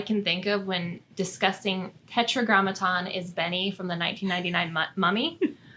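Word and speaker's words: Tetragrammaton: as oh this word tetr Graton mhm I said it wrong tetragramaton so Tetra Gramatan refers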